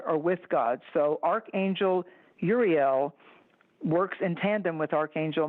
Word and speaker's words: Uriel: of the highest ray, Uriel, some pronounce it with a Y, depending on where you're from in the world, Uriel, but it's limitless light.